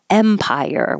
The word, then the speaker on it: Empire: watch my accent on Empire with an E like head Empire and this is another